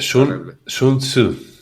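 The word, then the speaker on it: Sun Tzu: la guerra otra vez así porque se dice sun sunsu.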